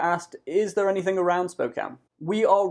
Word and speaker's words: Spokane: city name i've heard spockany spokane spockane it's spokane as in beer can and with close to